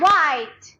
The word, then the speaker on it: white: W-H. H is silent. H is Silent. white.